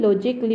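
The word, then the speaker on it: logically: আছে ইয়া আমি লজিক্যালি বলি ন পড়ু আমি লজিকলি বলি পড়িবো লাগে ঠিক তেনেকে ফিজিক্যালি ফিজিক আছে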